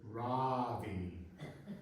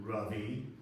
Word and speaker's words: Ravi: again Ravi he said he pronounced it Ravi with an extra long a either he did not know how to pronounce his own name or the Ang mangling of his name had so defeated him he was now adopting the pronunciation of his colonizers nice to meet you rubby I said pronouncing it correctly with an uh what kind of buying